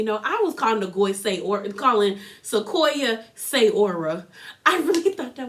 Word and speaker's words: Sequoia: And I'm like, yo, her name is Sequoia. I was saying Sayora. I don't know where I got Sayora. I really don't.